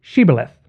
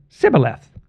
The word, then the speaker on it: Shibboleth: And if he said no, then they would say to him, say Shibboleth. but he said Sibboleth, for he could not pronounce it correctly.